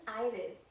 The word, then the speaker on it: Aires: my name is mrs ivis a good way to remember how to say my name is to think of an i iris and i am teaching